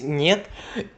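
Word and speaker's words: нет: So I just wanted to quickly let you guys know that niet, which is not pronounced het or something, it's niet, is just no in Russian.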